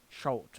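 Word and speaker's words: Chult: But, it's Cholt is spelled with a U. C-H-U-L-T. Cholt.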